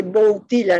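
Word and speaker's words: Wojtyła: apellido del papá del papa wojtyla se dice wojtyla no voy antigua porque la l con dos rayitas o una rayita cortada se pronuncia agua el blood que se escribe en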